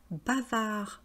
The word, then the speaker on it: bavard: Donc vous voyez, on ne prononce pas le D au masculin parce qu'on peut créer une sorte de famille de mots après. On peut créer bavarde au féminin et puis le verbe bavarder.